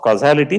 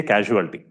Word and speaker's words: causality: when you talk of causality please make sure you pronounce it properly lot of times people say casualty including I'll tell you